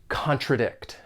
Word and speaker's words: contradict: each other when together when pronouncing this verb it has three syllables and the stress is on that third syllable contradict I will try not